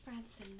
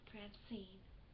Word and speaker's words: Francieum: Pronounced Francieum, not Francine.